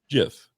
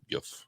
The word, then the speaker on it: GIF: G's become J's Yeah. often. So I Yeah. was always using that rule. Yeah. I don't think anybody's gonna like not be your friend if you say it wrong, but you're definitely probably gonna get some asshole. It's like it's actually GIF.